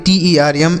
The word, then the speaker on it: term: TERM, GERM, NERV, देखिए तो अगर ई के बाद बच्चों केवल आर रहे, क्या रहे? आर। ई के बाद केवल आर रहता है तो इस ई का जो उच्चारण होगा वह आ की ध्वनि के रूप में होगा।